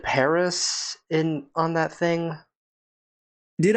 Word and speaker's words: Paris: France before yeah well the locals pronounce it Paris Carmen's conducted a lot